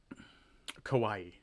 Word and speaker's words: Kawaii: Kawaii.